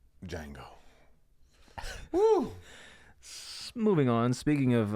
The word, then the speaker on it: Django: D is silent. Django.